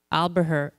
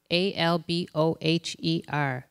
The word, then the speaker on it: Alboher: Marci's last name, how do you pronounce it? Alboher. Alboher.